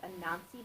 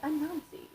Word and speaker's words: Anansi: It's actually pronounced Anansi Boys, Anansi. I was like, Anansi, Anansi, and Ansi. Onsi. Until I heard the audiobook and they're like, Anansi.